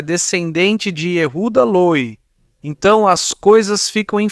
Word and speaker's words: Löw: O e j e a t u d a O sobrenome é Löw. O d o w, Löw. Assim se pronuncia Löw, mas se escreve assim, Yehuda Löw.